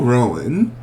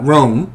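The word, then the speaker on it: Roan: special guest judge, Chapel Rowan, comes into I said Rowan. Ah, Rome. Chapel Rome. The Lone. I think that's my southernness. That's want to add a extra syllable in there.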